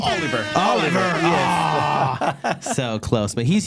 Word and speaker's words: Oliver: better person to talk about leadership is Jose olivar that we have here with us today did I pronounce it right Oliver Oliver so close but he's here with us